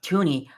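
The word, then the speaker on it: Thuney: agency hall because we got Joe thuni or Toney I keep pronouncing the H in his name it I want to just say the H because it's there but so we've acquired um Joe Joe Toney Jonah Jackson uh uh Drew Dalman Deo uh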